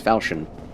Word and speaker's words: Falchion: Yes, when you realize that the H in Falchion is silent. Yes, Falchion.